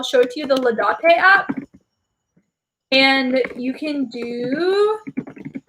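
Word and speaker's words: Laudate: rosary groups together doing you can download the lotte app no ladate i always pronounce it wrong cause i pronounced it wrong for so long but i'll show it to you the ladate app and you can do the liturgy of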